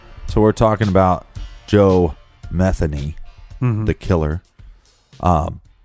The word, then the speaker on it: Metheny: look up some reports they will say Joe Matheny but it's actually Joe Metheny yeah we got that from local Baltimore reports